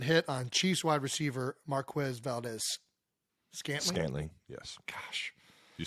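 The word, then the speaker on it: Marquez Valdes-Scantling: Anyway, Cisco made another violent hit on Chiefs wide receiver Marquez Valdez Scantling.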